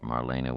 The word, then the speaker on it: Marlena: Molly not Molly thought Marlena with anguish Marlena Marlena Marlene had three syllables Accent on the second grown up like what